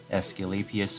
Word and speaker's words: Aesculapius: wanna see if i can get the right pronunciation and there you go um gundam escalapias over here so in terms of this unit